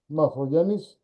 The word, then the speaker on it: Morfogen: And today we have a very interesting guest, Stratis Morfogenis, which is the proper way to say it.